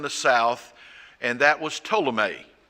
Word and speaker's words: Ptolemy: was down in the South and that was Ptolemy spelled with a p that would be under say